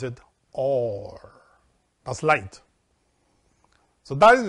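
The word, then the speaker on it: אור: read it in English our but you pronounces pronounce it or as light so that is the third aspect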